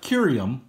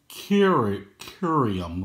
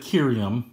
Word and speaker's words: Kirium: But I've always said Kirium as the I is followed by a consonant that's followed by a vowel. So I always give it the long I.